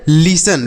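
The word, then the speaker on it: listen: ई एन यहां पर टी लिखा गया ना यह साइलेंट है इसे नहीं पढ़ेंगे तो सही उच्चारण क्या होगा लिसन लिसन का अर्थ होता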